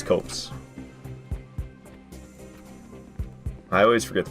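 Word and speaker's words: Copse: we're heading to huntsman's Cops copes I never remember the pronunciation people have told me before I think it's copes I always forget the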